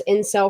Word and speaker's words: incel: lot of listen there's forms out there there's in cell forms out there and you should read the